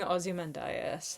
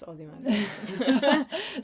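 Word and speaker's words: Ozymandias: She's giving Ozy Mandias. And you've had your warning. Oh, nice reference. I pronounced it wrong. It's Ozie Mandas.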